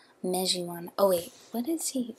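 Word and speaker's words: Mejiwahn: Mejiwan. Oh, wait, what is he? Sorry, I don't know what he's going by in the... Okay, yeah, Mejiwan.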